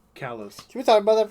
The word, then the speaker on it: Kalos: It's Kalos. Kalos.